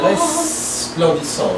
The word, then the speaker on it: resplendissant: Resplendissant, right? There's an S there. Resplendissant, dans l'azur. And no T at the end. You don't say it. The N and the T, you don't say them. Resplendissant.